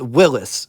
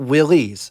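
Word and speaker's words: Willys: from both Ford and Willis Overland were present it is pronounced Willis not Willie's before getting into the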